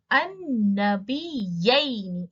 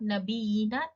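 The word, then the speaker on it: النبيين: So what is the pronunciation noun? Of the noun? An-nabiyyaini. It's not nabiyina, it's an-nabiyyaini.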